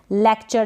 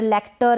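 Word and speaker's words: lecture: ये है लेक्चर। क्या है, लेक्चर, लेक्टर ऐसे करके ना पढ़ें, लेक्चर।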